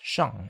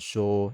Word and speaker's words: 上: go up send up the middle chinese pronunciation was zhang this becomes shang in chinese zhou and sho in japanese and sang in korean because the concept of top